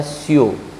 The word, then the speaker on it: sure: ध्यान से देखिए आप, SURE उच्चारण होता है स्यो।